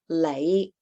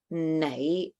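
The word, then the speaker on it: 你: It'll come out sounding more like an L because N in Cantonese a lot of times just gets said as L. So you'll hear lei instead of nãy.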